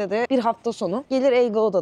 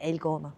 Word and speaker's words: El Gouna: And for the second one, for a weekend, we thought we'd come and stay in "El Gauda." By the way, I always say "El Gauda," but it's El Gouna...